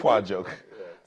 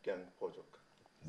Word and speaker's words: Gyang Pojok: Pajok. I mean, on the Plateau, you have some of the most beautiful names. Did he pronounce it well? Well, it's Gyang Pojok. Gyang Pojok.